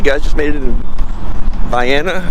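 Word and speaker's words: Vienna: just made it in Viana I keep wan to say vien cuz where I'm from in Missouri we have a town close by it's vien but this is VI um there's trail head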